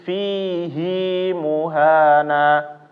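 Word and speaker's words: فِيهِۦ مُهَانًا: bapakbapak ini fihi ya itu aslinya enggak dibaca panjang di semua tempat di al-qur'an fihi itu enggak ada dibaca panjang semuanya dihilangkan tapi di al-furqan dibaca panjang ya bakbapak di ayat 69 ya Kenapa dibacanya menjadi fihi muhana karena ini namanya adalah pengecualian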